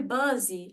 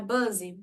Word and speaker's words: busy: Por exemplo, meu aluno falou, I am very busy. Aí eu, não, peraí, é busy, não é buzzy.